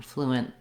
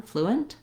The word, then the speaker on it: fluent: Fluent, fluent.